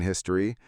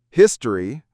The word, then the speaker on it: history: Notice that we either don't pronounce the O in history or we pronounce it as a history or history.